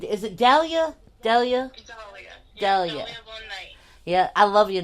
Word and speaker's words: Dahlia Von Knight: Dahlia Von Knight.